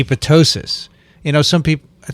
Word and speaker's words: apoptosis: was boorish to say apoptosis i mean they made me feel like an idiot how could you pronounce it that way it's obviously silent would you say ptosis potosis no okay fine and then he